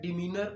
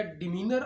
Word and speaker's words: Demeanour: रहे हैं वो है डिनर of witnesses डियर fellows इसको दो तरह प्रोनाउंस किया जाता है या डि मनर ऑफ विटनेसेस या डेनर ऑफ विटनेसेस डियर फेलोस इस हवाले